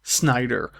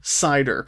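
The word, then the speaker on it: Seider: a 12-year-old boy named Christopher Snyder, or Christopher Sider. You see the name pronounced both ways. Christopher Sider is probably the more agreed upon story.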